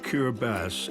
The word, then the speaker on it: Kiribati: The islands of Kiraabass, as they pronounce it here, typify life on the equator.